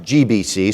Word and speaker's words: JBC: It's pronounced GBC, so I'll refer to it as GBC, although the letters are JBC.